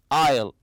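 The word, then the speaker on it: aisle: the word Isle and remember there's a silent s very good it means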